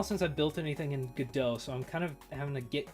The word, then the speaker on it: Godot: It's been a while since I've built anything in Godot. That's how I'm pronouncing it. It's been a while since I've built anything in Godot, so I'm kind of